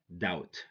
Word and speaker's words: doubt: honnest okay number three doubt don't say doubt--but or hear that don't say depth okay be silent when it goes before T so we say that